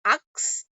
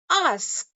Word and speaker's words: ask: Many people pronounce it as ux, but it's not ux, it's ask.